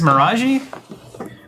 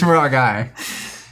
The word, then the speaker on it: Miragai: So it can't be Miraji. That sounds like a stuffed animal. It's Miragai.